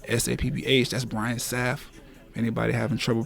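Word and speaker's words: Brian Sapph: That's Brian Saf. Anybody having trouble pronouncing?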